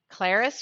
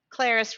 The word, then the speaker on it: ClariS: ClariS from Paris. ClariS rhymes with Paris.